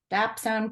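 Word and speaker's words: dapsone: the name of the protocol again could you spell it dbone is uh DS and d a p s o n e dap Zone protocol yes people be writing that down yeah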